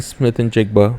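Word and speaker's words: Smith-Njigba: jiga had over 100 I think yeah Jackson Smith and jiga that's how you say it 12 receptions 117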